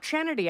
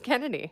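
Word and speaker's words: Chennedy: a little bit and it's not chanity I found out it's Kennedy Is that real yeah even though it's spelled CH I did not know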